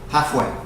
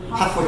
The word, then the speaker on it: halfway: the L just say halfway halfway through yeah because the L is so soft in this word that you don't even need to try to pronounce it halfway through halfway through good and this